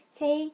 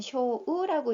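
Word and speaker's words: 正: 정이라는 소리는 세이 또는 쇼우라고 읽습니다. 자, 바르다라는 거는 다다시, 다다스, 마사와 같은 발음이 있습니다.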